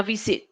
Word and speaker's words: visit: pronunciation will be visit remember the stress is in V V sit now visit visit the next word it's